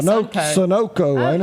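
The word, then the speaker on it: Sunoco: fender bender right there at the the you pronounce that Sunco or Sono how how do you say that name I say Sono you know what I think you're right you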